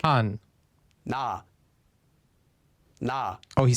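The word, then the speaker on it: 가: We get this syllable, ka.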